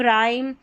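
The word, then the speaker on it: rhyme: RH को र करके pronounce करेंगे। यहाँ पर देखिए रिदम, राइम, राइनोसर्स और रॉम्बस, तो RH को आपने र प्रोनाउंस कर दिया क्योंकि H यहाँ पर साइलेंट है।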